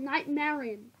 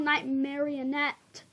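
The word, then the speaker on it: Nightmarionne: alright nightmare version yes it's called nightmare Ian if it was called night marionette I would be I know it would be funny yes but I got the name wrong night marionette it's not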